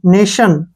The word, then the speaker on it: nation: पर आई ओ एन फिर आ गया टी के बाद तो यहां स लगेगा टी का मतलब एन ए से बन गया न ए ने और टी से बन गया श और ओ एन से न नेशन नेशन एन ए टी